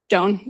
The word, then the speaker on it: Doney: Doney. So Doan, okay. It is, yep, you could just say done, I'm sorry.